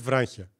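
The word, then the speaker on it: βράγχια: Εντάξει, δεν το λες τόσο συνειδητά το νι, αλλά δεν λες βράχια, λες βράχια. Βράχια.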